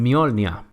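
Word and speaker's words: Mjölnir: Una de ellas, y probablemente la más conocida gracias a Marvel, es que típicamente la letra J adopta un sonido de I, como en Mjolnir.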